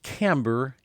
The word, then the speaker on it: Kamber: the bouncing ball the This Woman's name is camber Kain now keep in mind this is spelled with a k k a m b